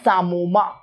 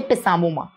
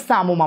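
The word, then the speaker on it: psammoma: It is known as sarcoma. In sarcoma, the P is silent. Don't say pisamoma. It's sarcoma bodies.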